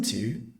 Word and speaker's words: too: Essa mesma palavra, ela tem a pronúncia de duas outras palavras. A palavrinha to, que seria para, ou a palavrinha two, to, o número. To, o número. To também, e to, para, tem a mesma pronúncia. Todas são to.